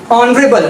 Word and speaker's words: honorable: तो जहां पे consonant sound आपका start वाला silent है, so it is start with honorable।